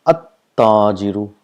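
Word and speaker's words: التاجر: If you see here, we pronounce this as at-tajiru. So we got a single dhamma, and the sound of lam is not produced, and the letter next to it gets a shadda.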